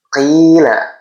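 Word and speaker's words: قِيلَ: Kemudian qila qila qofnya kasrh diikuti ya sukun. Ini juga sama cuman yang membedakan adalah penyebabnya. Kalau ini fathah diikuti alif. Kalau yang qila ini kasrah diikuti ya sukun. Jadi kasrah diikuti ya sukun adalah mad thobi'i. Cara bacanya sama dipanjangkan dua harakat atau satu ayunan atau satu alif.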